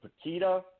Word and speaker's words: Pukita: odd last name feed it tuk ITA it's pronounced like the banana wouldn't be so it's poquito six letters tuk ITA Senate 2022 calm I